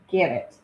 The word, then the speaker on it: Gannett: Sherry, I think her last name is pronounced Nat. Do you know? Gannett.